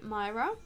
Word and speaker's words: Mira: Some people will call me Mira. That's what I tend to go by, you know, online and everywhere.